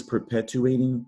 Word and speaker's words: perpetuating: the passage starts with the syllable perp there is an arch control vowel sound there purp not to be confused with prep that letter r can move around on you especially if you're reading like the hair prep versus perp prep perp see the difference all right perp pet